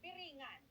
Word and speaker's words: Biringan: Biringan Oh, that's like a rolled R.